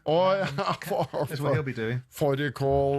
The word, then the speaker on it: Fårikål: Isn't that your national dish, fadakal? Lamb and stew. That's what he'll be doing. Fårikål or Fårikål. Fårikål. Tor didn't get your Norwegian pronunciation there.